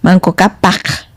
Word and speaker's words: Manco Cápac: En mi pueblo decimos Manco Cápac con K y Mama Oglio, ¿no?